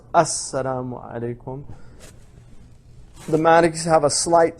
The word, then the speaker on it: Assalamu alaikum: So it's pronounced Assalamu alaikum.